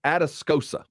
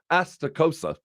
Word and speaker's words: Atascosa: a county known as atascosa that's what we say we don't stay astokosa like they call it they pronounce it atascocita